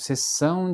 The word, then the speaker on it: sessão: Se, por exemplo, a letra S for no começo da palavra, ele vai ter o som de sassessosu. É, é, por exemplo, sessão de fotos, né?